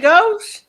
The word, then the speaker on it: Gautier: She said Gauche. And I'm like, spell that.